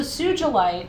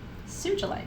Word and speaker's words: sugilite: you to work with sugilite or sugalite if you hear it because i think it's tsuji tsugi or tsuji in japanese tsuji lite tsuji or sugi the card numbers are